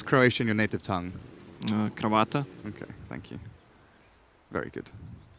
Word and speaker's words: kravata: How do you pronounce Croatian in your native tongue? Kravata.